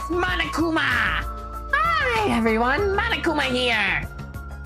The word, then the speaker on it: Monokuma: Is it Isaru Kamakura what Monokum but real? It's Monokuma.